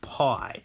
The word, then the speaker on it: pi: is the Greek letter for P we actually pronounce it PI P I so there is a button on